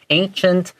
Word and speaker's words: ancient: Yes, so this first word of the sentence, ancient, even though it has a C, it's pronounced more like an SH.